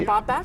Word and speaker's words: Baffert: And Muth, is that how you say it, for Bob Baffert? That's exactly right.